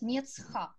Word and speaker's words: мецха: Но так случилось в языке, что вот это «а» перед «ха» пропало. И чаще говорят «мецха». И так правильно говорить «мецха».